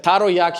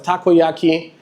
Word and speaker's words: takoyaki: I said taroyaki instead of takoyaki, and many other things.